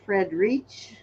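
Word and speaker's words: Freirich: illegal to pick okay this is a Frederick or Fred reach it's spelled f-r-e-i-r-i-c-h this is a also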